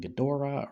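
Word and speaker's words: Ghidorah: for Earth Godzilla versus King gadora or King gedra however you pronounce it Godzilla Mathra and King gadora I usually do say gadora but gidra I can see too I mean razal ghoul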